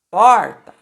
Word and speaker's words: porta: Porta. A última sílaba é o tá e a penúltima sílaba é o por.